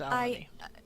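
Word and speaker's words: Elanee: Nope, I've been pronouncing her name as Elaine. It's Elodie.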